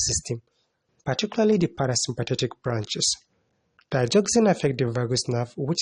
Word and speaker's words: digoxin: In this video, I'm going to be focusing on this certain drug which we call the digoxin, though some people choose to pronounce it as digoxin. Digoxin or digoxin, regardless of how you pronounce it, feel free to write it correctly.